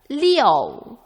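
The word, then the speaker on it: liù: O가 숨어 있는 IOU가 표기할 때는 IU로 가운데 운모를 생략하고 표기한다 라고 배웠던 거 기억나시죠? 해볼까요? 발음? 사성으로 Leo.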